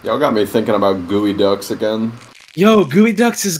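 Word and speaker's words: geoduck: you've never looked up gooey ducks before go on google and search for it it's spelled GE Oh d.u.c.k I'll spell it out and Chet look them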